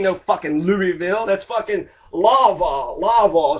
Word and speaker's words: Louisville: Don't say Louisville. It's named after King Louis, okay? So don't call it Louisville. You're supposed to call it real dumb like Lawville.